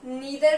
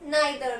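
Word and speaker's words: neither: इसके दो प्रोनाउंसिएशंस होते हैं, इसको आप ईदर भी बोल सकते हो या फिर आइदर भी बोल सकते हो, एंड इसको भी आप नीदर भी बोल सकते हो और नाइदर भी बोल सकते हो, ओके।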